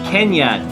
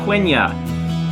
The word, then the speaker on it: Quenya: them is saying no no high Elvish is pronounced kenyatt Kenya not quenya that's me Matthew melama and welcome to believe